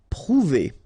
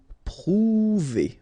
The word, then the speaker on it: prouver: Prouver, okay, O and U together, ou, prouver, prouver.